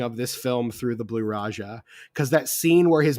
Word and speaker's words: Blue Raja: It's the Blue Raja.